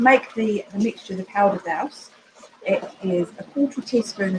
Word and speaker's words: douce: Now the other thing we're going to add to the apples is something that's called powder, I think it's pronounced douce, D-O-U-C-E.